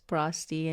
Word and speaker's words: Sprosty: I think most people are shocked that the last name is Sprosty and it rhymes with Frosty, Yes.